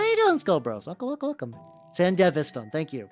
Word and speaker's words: Sandevistan: Yeah, the Sandevastan. There we go. I'm pronouncing it wrong horribly.